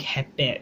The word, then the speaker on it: hepe: So watch out with the vowel change. That's why it's very important you know the pronunciation, because it's going to change the meaning. Hipi ug hepe.